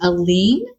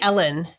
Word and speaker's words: Elin: introduce and I want to make sure I pronounce it correctly alen is that correct um I say Ellen oh you say Ellen okay um spelled like